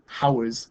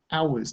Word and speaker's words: hours: and consonant sounds okay this H is a silent letter better you can't hear it you don't say there are 24 hours in a day you say hours don't you so if